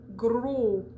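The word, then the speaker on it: gros: has been extensive okay when it's the last sound in a word like stilo which is pen or uh gro so g-r-o-s s's and t's are silent at the end of those words okay and we'll get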